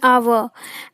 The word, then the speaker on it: hour: This is because H is silent in hour and it is pronounced with a vowel sound.